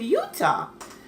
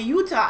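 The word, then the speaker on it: Eutaw: um we're going to utah alabama i'm like what there's a utah alabama so of course i googled it and there is a utah alibaba it's spelled e-u-t-a-w and it's about a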